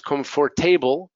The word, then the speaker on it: comfortable: Entonces no es comfortable, it's comfortable, vegetable, adaptable, renewable.